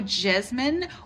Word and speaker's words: jessamine: And actually, jessamine is the correct way to say it and spell it. So that's what we'll go with today, the yellow jessamine or the Carolina jasmine.